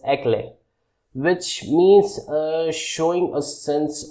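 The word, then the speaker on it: éclat: Eclat, in this the T is silent, so it pronounced as eclat, which means showing a sense of brilliance.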